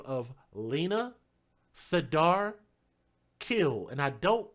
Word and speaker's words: Khil: little girl by the name of Lina, Sadar, Khil.